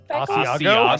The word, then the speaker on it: asiago: Asiago? Asiago. Thank you. Goodness. What do they teach you in Canada? We don't have to, guys. We don't have to try. Leave me alone. Asiago.